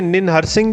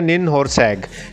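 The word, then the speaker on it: Ninhursag: को खाया तो इससे निन हरसिंह जो है वो नाराज़ हो गई। ठीक है, इसका निन होरसैग ठीक है, सॉरी, निन होरसैग जो है वो नाराज़ होगी, प्रोनाउंसिएशन है निन होरसैग।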